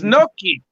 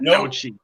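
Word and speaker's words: gnocchi: the kitchen the nochi it's nookie not nochi no what do i know about pronunciation i'm irish no good gravy all right so we got the 70.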